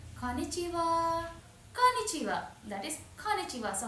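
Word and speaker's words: こんにちは: They say konnichiwa. Konnichiwa. That is konnichiwa. So, how do you spell it as?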